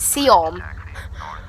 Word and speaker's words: Sion: roughly North Sea on okay that's how you pronounce it see on yeah I know so runway seven get good